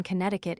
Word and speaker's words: Connecticut: And to sound the first C in Connecticut in Maryland, the name